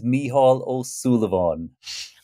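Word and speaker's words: Mícheál Ó Súilleabháin: let him say his name my name is mihal O Sullivan I love that he's a renowned poet singer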